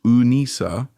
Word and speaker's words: Anissa: Her name, pronounced Unisa, is Lebanese, meaning little friend, a nod to her maternal grandparents heritage.